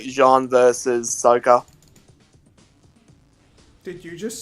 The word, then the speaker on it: Sokka: I'm surprised they haven't done fucking, like, Jean versus Sokka. Did you just say Sokka? Yeah. It's Sokka, you fucking degenerate. Like this isn't even debatable. They pronounce it in the story Sokka.